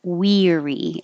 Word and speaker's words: weary: easiest whatever you prefer forget the a and weary it just sounds like we weary and the vowel is e very high tongue in very high position weary google the first